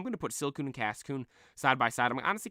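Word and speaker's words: Cascoon: the tier list and I'm getting the name wrong already it's silon and Cason right silon and Cason silon evolves into beauly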